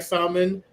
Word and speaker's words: salmon: I used to Salmon, like salmon. salmon, Salmon. salmon is Spanish. Salmon is English. The L is silent.